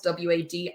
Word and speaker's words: WAD: to as WAD files, W-A-D. I might not be pronouncing that right. It sounds like WAD, like what you do with a piece of paper.